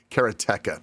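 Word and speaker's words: Karateka: And then, of course, there's people that say it's Karateica, blah blah blah. Jordan Mechner calls it Keratka. So Keratka is probably the correct way to pronounce it.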